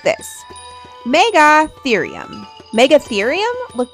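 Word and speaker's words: Megatherium: Meggathereum.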